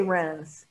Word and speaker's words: Reims: So we've got three main growing regions, the Montagne de Reims, where I love saying, you say Reims. How do you say it? Reims? Reims. Reims. Say it again.